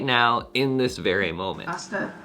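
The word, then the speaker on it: hasta: Asta, you don't pronounce the H? Asta.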